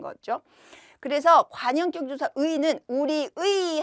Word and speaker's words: 우리의: 그래서 관형격 조사 의는 우리의 할 때요 의는 의로 발음해도 되고 에로 발음해도 되는 거예요의 또는에 그래서 우리의 해도 되고요 우리에 해도 됩니다 또 강의에라고